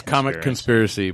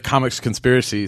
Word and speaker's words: Comic Conspiracy: like Wow, how do you mispronounce comics no, they conspiracy? Yeah, It's, no, it's comic. it's comic conspiracy, but you say it.